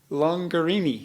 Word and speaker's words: Longarini: the show is longer Amy well tell people rhymes with Lamborghini and it does yeah longer Amy and if you really